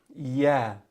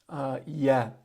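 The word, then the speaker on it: ي: The next two letters are the same letters, ya. All right, ya. And similar to the word yeah in English, Y-E-A-H.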